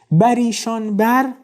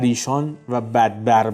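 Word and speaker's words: برایشان‌بر: with prosperity and fortune 'Bar ishānbar' needs to be read together, meaning, 'bar ishān bar' is incorrect. It's read as one word 'ishānbar' meaning, upon him,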